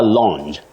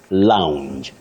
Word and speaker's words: lounge: am going to the lounge very common but wrong in terms of English and when we want to let English be English okay that word is pronounced Lounge Lounge it has that Glide ow Lounge just like SC